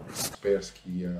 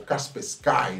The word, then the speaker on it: Kaspersky: Kaspersky, ou Kaspersky, né? Ou seja, existe essa dualidade ali de pronúncia, né?